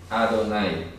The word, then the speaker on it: Adonai: No no sale señor sale el nombre propio adonay adonay entonces pronuncia a Donald ahí no sale como tanto como señor si nos sale adonay Y